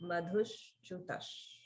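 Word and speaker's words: मधुश्चुतः: So notice in the first 4 syllables, the swaras go down, down, middle, down. So the first 2 are both down.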